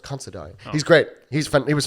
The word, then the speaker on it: Considine: Patty Constantine is King Viseras. Considine. Oh, is that how it's pronounced? It's pronounced Considine.